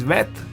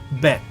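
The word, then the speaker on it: ב: If there is no dot here it is pronounced c. And when there is a dot you pronounce c. Here when there is no dot you pronounce f. When there is a dot you pronounce purr.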